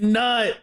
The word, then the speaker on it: Nut: THAT WE HAVE OH IT'S IT'S nut nut's coming she's coming it's already nut oh sheesh or n Just spell it.